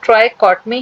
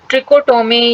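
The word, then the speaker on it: trichotomy: इसका true pronunciation ट्राइकॉटमी है। लेकिन बहुत से टीचर या बहुत से स्टूडेंट्स इसको ट्रिकोटोमी या ट्रिसोटोोमी इस तरीके से भी प्रोनाउंस कर लेते हैं।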